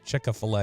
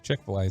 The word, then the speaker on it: Chick-fil-A: Chick-a-fil-A, how my southern butt says it. Chick-a-fil-A instead of Chick-fil-A.